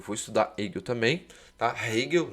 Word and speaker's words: Hegel: Hegel, né? Pronunciando melhor.